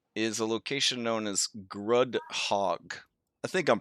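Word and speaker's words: Grudd Haug: near correctly guru hug google tells me it's grudge hug yeah it's grudge hug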